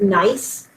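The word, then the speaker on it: gneiss: on little ID tags this is pronounced nice how it's pronounced um this this is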